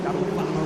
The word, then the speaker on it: Daruvala: They've done a superb job to assist with our TV coverage and put 2 racing cars on track, including Jehan Daruvala. Daruvala, I should say.